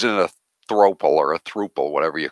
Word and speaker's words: throuple: She was in a throuple or a thruple, whatever you call it. That's a thruple. Thruple. Rhymes with couple.